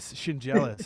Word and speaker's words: Schendzielos: yeah, Shin jealous is how you say it, like Shin and jealous.